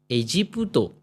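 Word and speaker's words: エジプト: Then there is Egypt, A जी, शी के ऊपर तेन, ई जी पुतो, एजीपुतो, एजीपुतो, है ना, एजीपुतो, एजीपुतो. यहाँ कोई सेन नहीं है, कोई छोटा त्सू नहीं है, तो क्वाइट नॉर्मल प्रोनाउंसिएशन.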